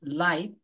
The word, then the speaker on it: light: let's get back light you pronounce this light without the G and the h sound so it's just light This is heavy This